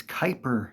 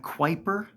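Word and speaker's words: Kuiper: in the game is Kyper shards not quer quipper queer Cooper it's k as pronounced in the game several hundred times by all the descendants Kyper it's definitely been said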